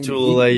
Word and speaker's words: Lotulelei: Star Lotulelei, is that how you say his name? Lotulelei, yeah.